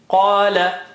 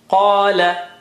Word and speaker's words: قال: Qala. Qa is high, okay? Qa is high. Qala, he said.